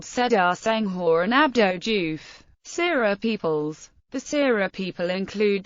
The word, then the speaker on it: Serer: Seereer or Sereer reflects the Sira pronunciation of the name and are mostly used by Senegalese Sira historians or scholars.